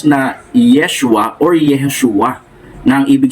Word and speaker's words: Yeshua: sa kanyang orihinal na wika Ito po ay binibigkas na Yeshua or yehoshua na ang ibig sabihin yung salitang